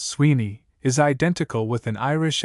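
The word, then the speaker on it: Suibhne: Swibney pronounced Sweeney is identical with an Irish Appalachian not uncommon in our day.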